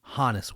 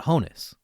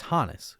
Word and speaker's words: Honus: And yes, as you notice, I'm pronouncing that name Hannes Wagner. It's not Honus, it's Hannes, which is short for Johannes, his full given name.